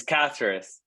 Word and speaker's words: Caceres: It's Caceres.